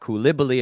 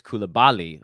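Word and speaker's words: Coulibaly: I know someone said it's not kibbi it's kibali okay fair enough that's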